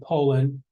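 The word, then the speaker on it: Polin: This is John, I think you pronounce the name Poland, and his wife, Rachel Goldenberg Poland.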